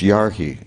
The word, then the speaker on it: yarhi: The emphasis is on the first syllable. Ударение на первый слог. If the emphasis would be on the second syllable, there'd be a long mark over the I.